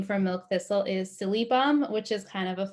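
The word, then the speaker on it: Silybum: for milk thistle is silly bum which is kind of a fun name to say silly bum uh it's it's spelled s-i-l-y-b-u-m so it's missing an l but silly bum um and so again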